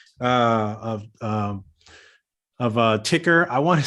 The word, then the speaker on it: Tykr: creating this company uh of um of uh ticker i want to say i want to call it something else because it's spelled different so how is this spell let's